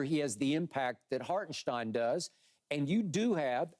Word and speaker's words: Hartenstein: and to your point hartenstein is how it's supposed to be pronounced okay hartenstein they're not goingon to